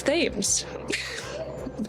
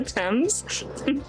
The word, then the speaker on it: Thames: Also, I find it really funny that the Brits seem to eat the letters in some of the names of their major sites.